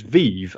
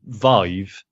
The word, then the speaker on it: Vive: So I assumed it was Vive, as in like Vive la Revolution or whatever. Like Jesus. that's a word that I recognise, whereas Vive isn't.